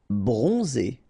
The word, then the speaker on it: bronzé: Bronzé, so O-N, on, and then Z, it's really pronounced like Z.